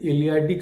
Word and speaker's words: Eleatic: It is written with a T, Eleatic, but it is pronounced as D. So that is known as the Eleatic school.